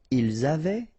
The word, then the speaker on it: avaient: Ils avaient, so look here, E-N-T, you write them, you don't pronounce them.